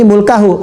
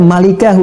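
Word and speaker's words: مُلْكَهُ: Orang-orang dulu bacanya mulkahu, orang sekarang ada yang baca malikahu. Dari mana jadi malika?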